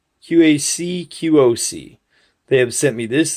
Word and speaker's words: QacQoc: The people from QacQoc, and that is how you pronounce it, QacQoc, QacQoc.